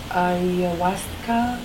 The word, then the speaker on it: ayahuasca: I wanted to ask you to tell me more about the journey that you were going to do this ayahuasca.